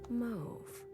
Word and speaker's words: mauve: maybe I'm just wrong move how long how long have I been here it's pronounced move in other areas okay one of those the US does it different and only the US things 10 days 100 days